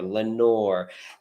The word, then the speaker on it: Lenore: for the Raven because it had a long o sound and in that poem you notice there's a lot of long long o sound never more Lenore and he did that